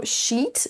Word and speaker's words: sheet: Et donc le mot sheet ne fait pas exception, c'est bien un i long, il faut donc le traîner un petit peu.